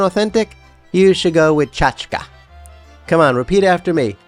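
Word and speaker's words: tchotchke: By the way, you may have noticed I pronounced chachka as chachka. before you start leaving comments saying I said it wrong. That pronunciation reflects a Yiddish influence versus saying chachki, which is the Americanized variant, which just never sounds right to me.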